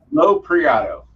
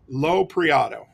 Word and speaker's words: Lopreiato: So Lopreiato. Lopreiato. Okay, I'll probably still mispronounce that tonight, and I apologize ahead of time.